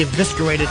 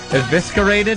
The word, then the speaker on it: eviscerated: much I should be eviscerated for thinking that. Evisc-a-rated? Yes, yeah does how its pronounced Is enough! I hate when i have to believe it's evi-serate-ed. I evi-scarade... I EVISCARATE-ED THAT TORTILLA! Ah, eviscerated!